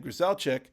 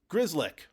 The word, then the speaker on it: Grzelcyk: And Matt, and yesterday I was saying Grzelcyk, but it's Grzelcyk, which is not how it's spelled, but that's okay.